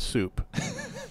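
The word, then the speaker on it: Soop: You call us Soup. And it's combining Sydney and Roop. Nice. And it's spelled S-O-O-P, which I don't know.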